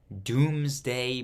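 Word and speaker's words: Domesday: the result was the what word is this Doomsday Book pronounced doomsday d-o-o-m-s-d-a-y spelled d-o-m-e-s-d-a-y the result of this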